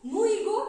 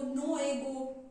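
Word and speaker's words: Nnu Ego: सो नीद इज द नू ईगो इज the protest it is also pronounce नू ईगो नो एगो नू एगो ट्स बट it's African pronunciation so इट मे वे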